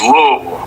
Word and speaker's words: Louisville: Tell us how people from Louisville pronounce it. It's just Louisville, like Okay.